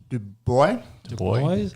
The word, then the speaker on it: Dubois: Dubois.